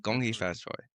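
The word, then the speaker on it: 恭喜发财: Gonghi fat choy.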